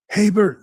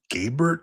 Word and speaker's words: Gabert: He goes, "Haybert, sir." He's like, "But it says Gabert here." He's like, "Your Your name's Gabert?" He's like, "It's pronounced Haybert, sir."